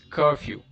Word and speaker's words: curfew: put the stress marks so in the word curfew where do you put the stress you put it on you it's curfew tools nell these are